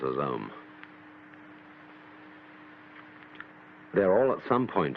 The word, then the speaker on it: Om: Chief of these is the syllable Om, or Aum, called the Pranava, or the sound of God, because it involves the whole range of the voice from the back of the throat to the lips.